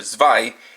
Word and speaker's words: Zwei: II in Roman numerals, but the toy itself pronounces its name as Buggle Driver Zwei, being the German word for two.